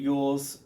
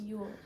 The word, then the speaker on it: Elwes: Carrie Yules played, I don't know how you say his name.